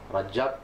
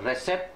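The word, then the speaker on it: Recep: untuk memimpin dunia islam Rajab Taib erdoan ejaannya r e c p c tu bunyi J ha jadi jangan resep resep Tayib Erdogan itu memang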